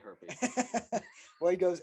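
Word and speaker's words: Hjerpe: Herpe? Oh, I don't think that's how you say it. No, it's definitely Herpy.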